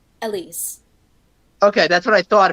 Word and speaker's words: Elyse: pronounce your name? Elyse.